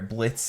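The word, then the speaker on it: Blitzø: kind of saw there Blitz is the boss uh the O is silent um it's okay his his given name at Birth was blitzo but the O is silent now he goes by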